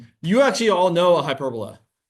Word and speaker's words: hyperbola: It's a hyperbola, or hyperbola is how you're actually supposed to pronounce it. You actually all know a hyperbola.